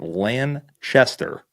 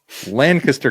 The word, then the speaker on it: Lancaster: I am not pronouncing this right. I have been pronouncing it Lanchester County. That is not right. That's right. There's not an H. Lancaster County, PA.